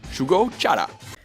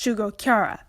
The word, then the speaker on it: Shugo Chara: The narrator starts this one off with a minor mistake, mispronouncing the name of the show as Shugo Chara. This title is pronounced Shugo Chara.